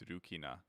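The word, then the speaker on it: ルキナ: it's the same in Japanese except it's pronounced differently. It's Rukina.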